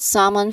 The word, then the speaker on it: salmon: Remember again those three um I mean not three syllables, but uh remember the silent L in salmon.